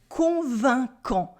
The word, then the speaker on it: convaincant: Here you can notice we have Q and U that make the sound que, not quoi, it's que. And we have a silent T at the end.